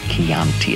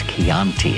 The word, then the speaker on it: Chianti: The problem was he mispronounced Chianti. It's Chianti, and it bothered me all the way.